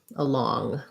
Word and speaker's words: along: And then along, we have again a schwa, second syllable stress, but in law, long, I have the ah vowel and an NG sound. So that's more like long, along.